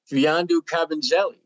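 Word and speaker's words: Mfiondu Kabengele: And Gary, we might see one of your favorite players, Fiandu Kabengele.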